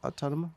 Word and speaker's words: Automata: Autonoma? Automata? Automata? Yeah, Automata.